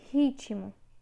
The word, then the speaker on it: ritmo: E temos aqui ritmo, por último. Ritmo. Ritmo. Temos duas sílabas. Ritmo. Então, nesse caso, é o ri. Ritmo. É paroxítona.